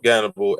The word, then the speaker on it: Gannibal: an H is because in Russia, I guess they use the H as a G. So the H they don't use the H over there. So they say Gannibal or however they pronounce it, but that's why it's a G instead of an H.